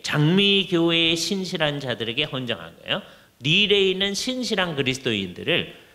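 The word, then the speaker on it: Lille: L-E-L-L-E, 리에라고 하기도 하는데 리어 이렇게 들리기도 해요. 근데 릴 되게 그러는데 불어로는 릴이에요.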